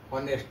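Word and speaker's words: honest: बट यहां पे एच कोसोनेंट है। लेकिन यहां पे एच साइलेंट हो जाता है और बचता है ओ।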